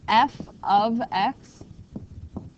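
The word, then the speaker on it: f(x): The Y and that's pronounced F of X.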